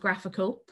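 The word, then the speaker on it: GraphiQL: what's called graphical so that's graph i ql pronounced graphical um graphql slash console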